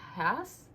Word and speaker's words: Hesse: So the book in question is Damien by Herman Hesse. I think it's how you pronounce it. I was saying Herman Hayes, but apparently it's like Herman Hesse or something like that.